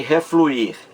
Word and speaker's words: refluir: Então esse I aí, esse I, refluir, mais forte.